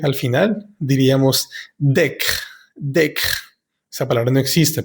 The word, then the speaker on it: décret: decreto, un projet de décret. Acá tenemos que darnos cuenta de que todas las E que tengan un acento siempre se tienen que pronunciar como en español.